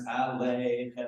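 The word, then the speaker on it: עליכם: The yud doesn't really add much, and you won't really hear the yud. Even without it would pretty much be pronounced the same way. So you would say Shalom Aleichem. That's Aleichem.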